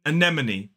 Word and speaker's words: anemone: in this word, but this word is pronounced anemone. 4 syllables, the stress falls on the second, so it's a, schwa. Then the second stress syllable is nem. Then we have a schwa again, and the last syllable is and e, a short e sound. We don't hold it for too long.